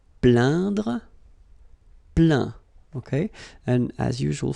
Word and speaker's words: plaint: Plaindre, plaint. Okay, and as usual, final T here is not pronounced, so you get craint, contraint, plaint. Okay.